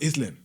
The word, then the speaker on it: island: the word I said it's called Island Island instead of Island that's right yeah yeah I mean that was really uh really tough for me to know the English language and you know some silent words that comes with the word you know but when